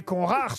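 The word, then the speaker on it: Conrart: mais non mais il me dit j'ai mal prononcé ça se dit Georg le prénom ça dit pas George oui mais conrar c'est conrar oui là là j'aire pronciation VO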